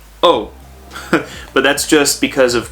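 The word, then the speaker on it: を: and that's okay which this bottom one whoa is typically pronounced oh but that's just because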